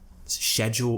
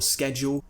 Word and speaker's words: schedule: again it doesn't matter just like negotiate or negotiate schedule or schedule nobody cares when they're listening